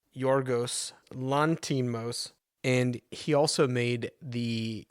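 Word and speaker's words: Yorgos Lanthimos: The director, and I also looked up how to say this, is Yorgos Lantimos, and he also made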